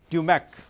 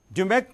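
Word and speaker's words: DMAIC: is a main process process of problem solving dumac dumac team life cycle phase one identifying and selecting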